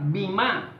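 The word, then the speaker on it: βῆμα: para este tribunal es la palabra viva así como suena con be grande rima con acento en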